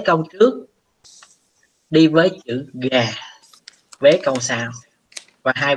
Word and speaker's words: が: ở trong câu này nó sẽ không đọc là gá, nó đọc là gà, nó đọc là gà, hiểu không?